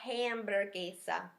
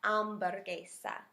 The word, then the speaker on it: hamburguesa: good cognate now remember the letter H in Spanish is silent not la hamburguesa we got give it a little Spanish flair la um butter geisha la I'm better geisha